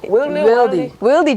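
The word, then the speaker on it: Wildey: And then the Saturday and Sunday is the convention, which is at the Whitley or Widley Gymnasium? Gymnasium? What's the pronunciation? Wildy Gymnasium. Wildy. Right.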